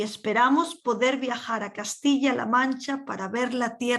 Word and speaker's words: viajar: Verano, viajar, the J is a H, para ver la tierra de Cervantes y Don Quijote, Quijote, lejos de los turistas.